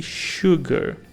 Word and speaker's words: sugar: Fruit uma fruta e Sugar sim Sugar em muitas palavras o s principalmente aí antes das vogais principalmente com u tem esse som como se fosse pra